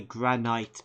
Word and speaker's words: granite: I was checking whether granite is pronounced differently in some places. Because I'm pretty sure I've heard someone say granite before, rather than granite. Turns out they were just mispronouncing the word. Because it is indeed granite. Apparently universally.